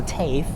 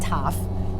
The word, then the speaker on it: TAFE: one goes to the Tafe you guys have uh corrected me last time on how to pronounce that stupid that that place is cave not tough Tafe so that's why it